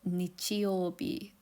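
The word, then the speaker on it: 日曜日: However, it's pronounced nichiobi. This means that the first sun/day character is pronounced nichi and the last one bi.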